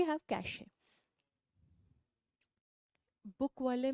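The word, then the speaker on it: cache: कैश memory से निकलती है। तो वो किसके लिए? कैश पैसे वाला कैश नहीं है, it's only the pronunciation, CASH, कैश, पैसा।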